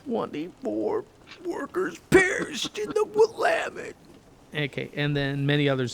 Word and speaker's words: Willamette: The Willamette. The Willamette. It's Willamette, so people can say it right.